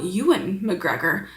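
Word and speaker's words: Ewan McGregor: Oh, Euan McGregor. I have heard that before. I just never remember that that's how you say his name. Euan McGre McGregor.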